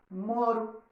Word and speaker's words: moro: E no caso, deixo de escrever com os 2 R's, a palavra fica com R brando e passa a ser pronunciada moro.